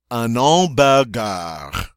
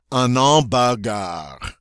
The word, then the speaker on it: hamburger: on all bad guy let me try that again because I keep wanting to say it the English way and I got to remember they don't say it like that ok it's on all bah gah there we go an all